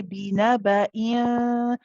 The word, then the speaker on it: بنبأ: But when I say binaba, remember we said for the ikhfa, you're not pronouncing the next letter yet. You're just getting ready for it. Okay, so you get close to it, but you're not pronouncing it whilst you do the hunna.